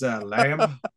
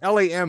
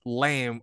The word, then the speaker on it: Lam: yeah, it's really rare that people like, because LAM is not really lamb. I guess I have no idea when you pronounce it, right? It's lam. I think it's Lam.